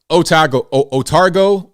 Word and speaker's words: Otago: Otago University.